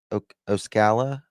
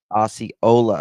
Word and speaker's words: Osceola: whose body was found in, how do you pronounce it? Oscala? How do we pronounce this? I have to pronounce it. Osceola.